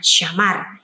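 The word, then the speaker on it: שמר: asing ini akan sulit Apakah ini bisa dibaca syamar sumur Sindir shimmer susah ya walaupun orang Israel tahun cara membacanya syahmar Ya nah tapi tidak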